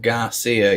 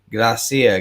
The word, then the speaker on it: Gracia: on Saturday Sam Johnson Grace here not Garcia yes I know I I butchered his name the other night Ryan when I was uh talking about this Gracia Gracia Gracia yeah I I think I